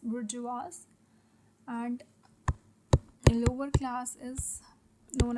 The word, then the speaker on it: bourgeois: और इनका नाम भी दिया है कि higher classes are known as बुर्जुआजी, वी pronounce it as bourgeois, and lower class is known as proletariats.